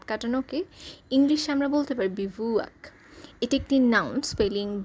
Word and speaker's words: bivouac: অস্থায়ী শিবির, অস্থায়ী আবাস বা খোলা আকাশের নিচে রাত কাটানোকে ইংলিশে আমরা বলতে পারি বিভুক। এটি একটি noun spelling B আই ভি ও ইউ এ সি বিভুক রসিক কৌতুকপ্রিয় বা হাস্যরসপূর্ণ কিছু বুঝাতে আমরা বলতে